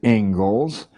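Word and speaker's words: Inglis: as it is the Eng Les lecture looks like English but it's pronounced Engles and I would like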